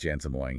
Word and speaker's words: Jensen Huang: It's pronounced Jensen Huang.